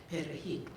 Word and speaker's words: perejil: He had the cane workers come up and pronounce the Spanish word for parsley, perejil. And those who could roll their R's were obviously spoke Spanish or some Creole, some kind of Spanish.